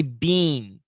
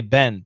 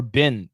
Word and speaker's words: been: had been this pronunciation a lot of students want to say bean but no american says bean we say ben ben ben or bin bin we had been we